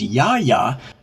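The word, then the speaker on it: Yah Yah: Now, of course, Eminem's from Detroit, and they don't pronounce it yeah yeah. They pronounce it ya ya.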